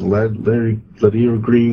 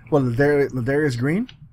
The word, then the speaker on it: Ladarius Green: Is it Larry Green? Well, anyways. Well, Ladarius Green.